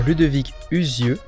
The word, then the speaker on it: Ludovic Uzieux: Aujourd'hui, on a le plaisir de recevoir Ludovic Uzieux. Je fais pas de bêtises. Non, c'est la bonne prononciation.